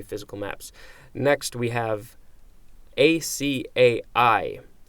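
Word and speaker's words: açaí: maps next we have a CAI acai that's how it's pronounced it the sea can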